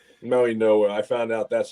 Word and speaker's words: Mauigoa: It's Francis Maui Maui Goa. Maui Noah. I found out that's how we pronounce it.